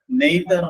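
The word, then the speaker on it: neither: സെൻസിൽ ഉപയോഗിക്കുന്ന മറ്റൊരു പ്രയോഗമുണ്ട് നൈതർ നോർ അല്ലെങ്കിൽ നീതർ നോർ നൈതർ എന്നും അതിന് ഉച്ചാരണം ഉണ്ട് നീതർ എന്നും ഉച്ചാരണം ഉണ്ട് നൈതർ നൈതർ നോർ എന്ന്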